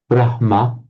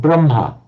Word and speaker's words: Brahma: For example, the word Brahma is written and is actually written in Devanagari and Sanskrit as well with a H-ma, Brahma. But you often find people pronouncing the other way around, Brahma.